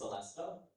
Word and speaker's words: celesta: Your word is Celestea. May I have all the information, please? Of course. Celestea. is one of the pronunciations. The main one is Celestea.